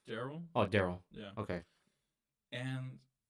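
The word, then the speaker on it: Darrell: I'm pretty sure it's pronounced Daryl.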